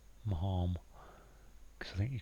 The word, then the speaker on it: Maugham: I think it must be Marm. Marm.